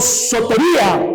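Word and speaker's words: σωτηρία: La salvación viene de un término griego que se llama soteria o sotería, o como quieras pronunciar, pero así se dice en griego o se escribe, soteria.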